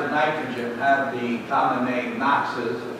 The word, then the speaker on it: NOx: the world oxides of nitrogen at the colonnade Knox's pronounced axes that concludes nitric oxide nitrogen dioxide and